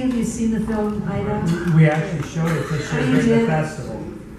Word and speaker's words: Ida: I think in Polish it's pronounced Ida.